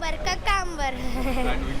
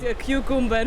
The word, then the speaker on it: cucumber: Все говорят какамбер. Сейчас уже прекратили, но раньше было. And how you pronounce it? Это называется Indian English, индийский английский, кукумбер или какамбер. А правильно называть кьюкумбер.